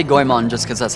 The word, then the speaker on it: Goemon: heard people pronounce uh goon differently I say goon just cuz that's how I say it I know it's Goan but I say goon it's it's goon like